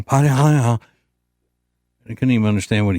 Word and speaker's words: Padilla: And we were talking about Senator Alex Padilla, as he pronounces his name. Padilla.